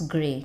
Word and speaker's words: grey: We are not pronouncing Y, and A is taking its name, that is long A sound.